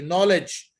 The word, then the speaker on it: Knowledge: When is the K not pronounced? You said it before, night. Okay, no, exactly. Knowledge, new, excellent, excellent, very good.